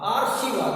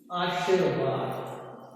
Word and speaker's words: आशीर्वाद: अब आप इसका उच्चारण करके देखिए, आशीर्वाद हो गया, आशीर्वाद नहीं हुआ। सही शब्द है वह है आशीर्वाद।